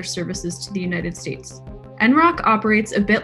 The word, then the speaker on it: NROC: The NROC, pronounced NROC internally, is a little discussed